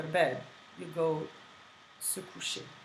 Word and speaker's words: coucher: Couching comes obviously from a French word, and it comes from coucher. And coucher is a verb, which means to lie down. Basically, when you go to bed, you go se coucher, right?